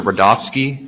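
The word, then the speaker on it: Rudofski: please special agent rodofsky that's r-u-d-o-f-s-k-i and it's pronounced Rudolph and then ski sure how you doing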